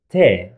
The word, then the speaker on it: ت: we pronounce it as te te t sound in english like in this word